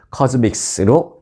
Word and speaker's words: CosMc's: 믹의 뭐 그런 뜻이죠 그래서 발음은 코믹스로 해 달라라고 맥날이 말했습니다이 매장은요 차를 탄채 주문해